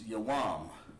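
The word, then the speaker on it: יום: It's Yawam. Very good. Sister Adrian came up with Yawam, and that's correct. That's actually correct.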